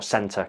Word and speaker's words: Centaur: All the Wolverson kit has gone, and it now is the new Centaur kit, or Center kit, depending on how it's said.